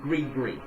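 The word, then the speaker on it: gris-gris: bag spelled g-r-i-s g-r-i-s-g-r-i-s i know it sounds it looks and it's spelled like i said like it should be saying gristrus or something like that but it's all it's called greek greek like g-r-e-e agribat what this is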